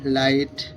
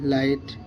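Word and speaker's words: light: অক্ষর এইচ আই হাই এল আই জি এইচটি লাইট জি H silence L আইটি লাইট এটি হল যে silent পড়ে গেল গাইস এগুলো প্রাক্টিক্যালি বুঝতে হবে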